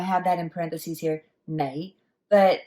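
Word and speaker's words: 你: you've learned that the lei means you now that's with the so-called lazy pronunciation typically most properly it's pronounced with an n sound which is knight right so i have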